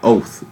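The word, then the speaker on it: אות: the Hebrew word, and it's going to basically be like oath, is how you would pronounce it.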